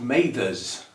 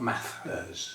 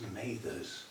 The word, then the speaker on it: Mathers: it's her name, and it's pronounced Mathers, not Mathers, it's Mathers.